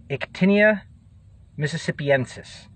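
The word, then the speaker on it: Ictinia mississippiensis: mississippi kite looks like the latin pronunciation of the mississippi kite is ectinia mississippiensis this creature was made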